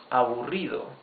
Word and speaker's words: aburrido: You can also say less boring, menos aburrido, menos aburrido. These are 4 syllables. Aburrido. Remember, the double R is the rough sound of the R.